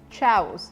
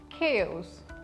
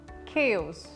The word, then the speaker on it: chaos: this word some people might think this is Chows because CH is coming at first but it's not chavos it is chaos chaos example it was ttal chaos though we don't